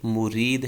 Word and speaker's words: مُرِید: عنوان مرید، باغی مرید، تو صحیح تلفظ جو ہے یہ مرید ہے، میم پہ پیش اور را کے نیچے زیر ہوگی۔ اور اس کا غلط